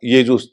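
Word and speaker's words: Iesus: लगा दिया ठीक है लैटिन में भी वो स्पेलिंग थोड़ी और छोटी हो गई आई ई एस यू एस हो गया तो और उसका उचार य जुस मैंने स्पेलिंग में आई है उच्चारण य क्या गायब यब वो गायब हो गया ग्रीक से ओ गायब हो गया तो दोनों का उच्चारण यूस था तो आप समझिए कि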